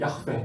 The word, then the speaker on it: 야훼: 여호와는 정확하게 말하면 야흐베 이렇게 번역을 이렇게 발음해야 됩니다.